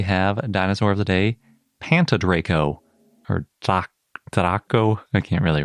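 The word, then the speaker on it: Pantydraco: That is, if you can pronounce it the Welsh way.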